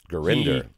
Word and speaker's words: Gurinder: out as well as Gurinder Gurinder has confirmed to Lee and myself that that is the correct pronunciation that is an awesome